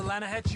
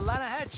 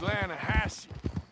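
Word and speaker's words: Lannahechee: the other day I rode down to the Lana Hetchy River I caught some beautiful steelhead trout you mean Atlanta no no no the Lana hatch it runs right near here yeah but it's pronounced Lana Hass why is everything in English said differently than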